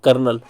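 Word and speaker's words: colonel: चीज को ध्यान रखो कॉलोनल को हिंदी में बोलते हैं कर्नल जो कि आर्मी में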